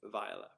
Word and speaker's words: Viola: viola which is uh i believe the correct pronunciation from twelfth night which is where i got the name it's uh vialus from